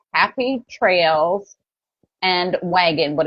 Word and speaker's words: Wag'n: is linked there, but it's Happy Trails and Wagon, but it's spelled Wagn because I was trying to shorten it Tails.